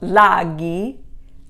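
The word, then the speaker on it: laghi: lago lago means lake when you make it plural however you have to add an h to retain that hard g sound so laggy lakes so anytime a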